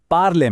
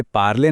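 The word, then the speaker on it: parle: और अगर इस पर कोई एक्सेंट है ही नहीं, तो ज्यादातर ये शब्द के आखिर में साइलेंट हो जाता है, जैसे पार्ले में। इसे पार्ले नहीं, सिर्फ पार्ल बोलेंगे।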